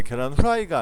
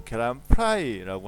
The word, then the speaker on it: 계란 프라이: 이게 당연히 계란 후라이라고 쓰는 경우가 많은데 계란 후라이가 아니고 계란 프라이라고 하셔야 되고 화이팅 FIGHTING니까 F니까 화이팅이 아니고 파이팅이라고 하셔야 된다.